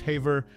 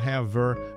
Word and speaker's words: Haver: familial heart June ha's surname pronounced Haver not have ver marked a distinctive note